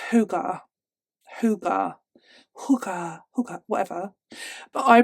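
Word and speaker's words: hygge: Have you heard of, I think it's pronounced Hugar, but it's Danish, but I read the word as Heige.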